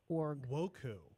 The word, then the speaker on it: WOCCU: Woku. Woku. I was right. You were. I was right. I thought it's like that's probably how they say it. It is. It is Woku.